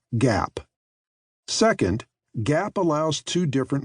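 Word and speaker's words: GAAP: In the United States, those rules are called generally accepted accounting principles or GAP, pronounced GAP.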